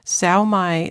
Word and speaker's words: Sao Mai: Sao Mai Center, Sao Mai is spelled SAOMAI Center. So those are SAO is one word, MAI is the other word.